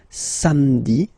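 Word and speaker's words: samedi: Don't insist on the Sami.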